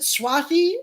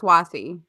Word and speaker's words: Swati: Tori and Swati are is it Swathi? It's spelled Swati, but they all seem to be saying Swathi. I think it's Swathi. I think so too.